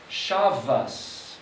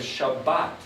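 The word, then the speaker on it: שבת: as an S, and some of them pronounce it as a T. That's why you say Shabbos instead of Shabbat.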